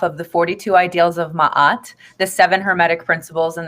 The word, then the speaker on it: Ma'at: the 42 principles so ma'at it's m-a-a-t some pronounce it as mayette she's an egyptian netter